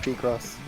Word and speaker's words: Picross: It's pronounced P-Cross.